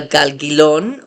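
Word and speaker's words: גלגילון: So notice the difference. Galgilon, galgalon. The stress is on the last syllable, but I'm kind of emphasizing that middle syllable because it's the different vowel.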